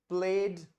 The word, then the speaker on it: played: To play, pledge, pledge, playing. Yeah, I'll repeat it for you once again. So it is to play, played, played, playing, played.